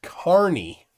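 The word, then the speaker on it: Kearney: ears Kierney North uh Nebraska is pronounced Carney like the primary career of its inhabitants all right well Carney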